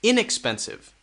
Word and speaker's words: inexpensive: this one expensive expensive now it changes with the next one this will be stressed inexpensive inexpensive inexpensive we focus more on